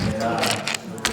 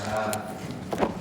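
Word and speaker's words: זרע: 제라, 자라. 이게 이제 모음 따라서 발음만 다르지 사실은 제라나 자라나 다 똑같은 단어입니다.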